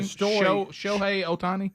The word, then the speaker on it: Shohei Ohtani: Shohei Ohtani.